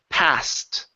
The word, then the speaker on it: passed: ending instead of passing the ed is at T sound orders passed right past good excitement